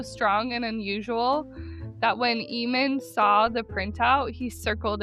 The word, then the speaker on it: Ehman: On August 15th, 1977, a scientist named Jerry, I looked it up, it's Ehman, but it's spelled E-H-M-A-N, Ehman, was working at Ohio State University's Big Ear Radio Telescope.